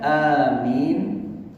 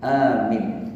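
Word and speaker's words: آمين: Kemudian beliau tiba-tiba mengatakan amin amin amin tiga kali Amin kawan-kawan kita setiap salat mengucapkan Amin jangan salah mengucapkan amin amin itu bacanya Amin enggak pakai tasjid Am itu salah tapi akhirnya datang ke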